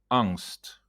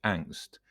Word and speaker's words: angst: a remarkably young age angst angst or pronounced in English angst is not a happy